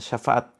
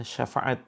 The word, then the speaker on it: syafaat: Bacalah Al-Quran karena kelak Al-Quran akan datang memberikan syafaat bagi orang-orang yang membacanya, ya. Syafaat ya teman-teman ya, bukan syafaat. Jadi kita harus bisa membedakan antara syafaat huruf shin dengan huruf sa, huruf sin ya.